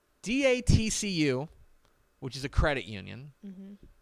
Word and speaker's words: DATCU: sponsor and that is TCU say it correctly d-a-t-c-u which is a credit union will be what's it stand for um I need to look this up what is TTC using Denton Area Teachers Credit Union d-a-t-c-u will be the new title sponsor of North